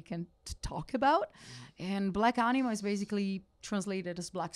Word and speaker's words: Black Anima: So let us talk about the new record, which is going to be called Black Anima. Yes, I believe I pronounced perfect.